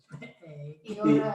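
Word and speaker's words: ι: Iota or iota. Iota, yeah, which is a short, normally a short I sound there. Sometimes long. E.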